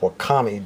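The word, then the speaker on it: wakame: that now we've got some stuff called uh wakami it's a different kind of seaweed it's pronoun it's it's pronounced wakami w a k a am and it takes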